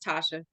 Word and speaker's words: Tashia: to S it throws people off it's just Tasha oh but I mostly say Dr for